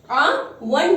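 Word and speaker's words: one: ओ तो है एक, ओ क्या है, हमारा इंग्लिश का वोवेल है, लेकिन इसको जब प्रोनाउंस करें तो वन यानी कि वा का साउंड है, यानी कि वा का साउंड है.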